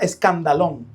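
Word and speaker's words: σκάνδαλον: La palabra ofendido es el caso, viene del griego que se pronuncia escandalón, de escándalo.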